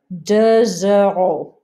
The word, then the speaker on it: deux euros: Deux euros. Deux centimes. Deux euros. Notice the X sounds like a Z in a liaison.